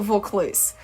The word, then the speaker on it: Vaucluse: uh they were from vaucluse is that a wrong before they got called in folklore or something like that because I wasn't sure of them pronunciation it's a vaucluse so she made a